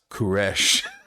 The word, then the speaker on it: Koresh: Cyrus, if you're not aware, the Hebrew pronunciation of Cyrus is Koresh.